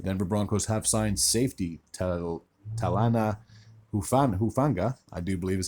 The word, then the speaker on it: Talanoa Hufanga: The Denver Broncos have signed safety Talanoa Hufanga, I do believe is how you pronounce his name, from the San Francisco 49ers.